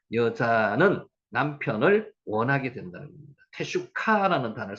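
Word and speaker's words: תשוקה: 테슈카라는 단어를 쓸 때 갈망하다는 뜻입니다. 테슈카. 여기서 흐라는 발음은 약하기 때문에 테슈카 흐라고 발음해도 상관없는데 여기는 흐를 일단 뺐습니다.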